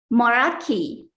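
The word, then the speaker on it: Meraki: Moraki is a noun and pronounced Moraki.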